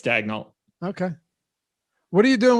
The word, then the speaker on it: Daigneault: You pronounce the LT? It's not silent? You do. Dignac? No, it's Daigneault.